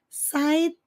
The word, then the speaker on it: side: side side e detalhe nós não pronunciamos a letra E então termina com o som do d bem Sutil na ponta da língua said de não é